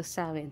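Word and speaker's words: Samhain: mga ah nagce-celebrate ng samain Paano ba bigkasin yit saen so sawin so sa mga nagce-celebrate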